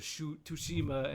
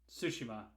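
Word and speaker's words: Tsushima: boy enough to play most of ghost of toshima and 50 other games that i don't have time sushima see that's something you could have yelled at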